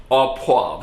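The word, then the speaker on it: au poivre: part i'm making a steak ah ah poav ah poi that's how they say it in french all it means is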